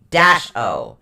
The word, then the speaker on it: Gebo: This particular rune is spelled Gebo. It's actually pronounced Gheb-O.